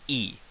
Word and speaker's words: い: you is now this looks like the letter i which but it's pronounced e that's like graffiti or king and the stroke um